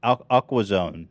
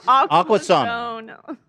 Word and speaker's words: Aquasana: Aquazone, if you pronounce it like. No, Zana. S-A-N-A. Aquasana.